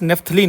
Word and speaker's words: naphthalene: ठीक है, अगला कंपाउंड हमारे पास नेफ्थलीन है बच्चों। This is called नेफ्थलीन, spelling ध्यान रखना, NaPHTHALENE, नेफ्थलीन।